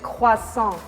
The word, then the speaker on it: croissant: say it is that we use the r a little bit differently so we said quasang clawson it's like they